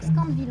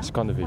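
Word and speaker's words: Schandevyl: Donc Scandeville on dit. Scandeville, pour la prononciation.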